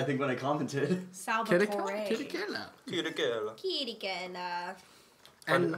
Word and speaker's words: Chirichella: Chirichella. Like, last time you guys just said Salvatore, I think, when I commented. Salvatore. Chirichella.